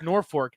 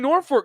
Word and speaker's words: Norfolk: The first time I ever anchored, it was talking about Norfolk, and I said it that way, but it's pronounced Norfolk.